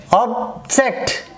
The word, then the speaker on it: object: Object, perfect, 1, 2, 1, 2. So the first syllable is traced there.